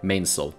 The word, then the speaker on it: mainsail: are pronounced mainsail, headsail, etc.